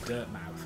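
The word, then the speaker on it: Dirtmouth: derp now yeah yeah but it's like it's like bournemouth you know it's on bournemouth born i was born a mouth you know it's over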